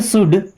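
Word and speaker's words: should: बिल्कुल ऑफकोर्स बिल्कुल यू शुड think about it you means होता है आप या आपको शुड शुड वर्ड में एल होता है साइलेंट शुड नहीं पढ़ते शुड मी्स चाहिए थिंक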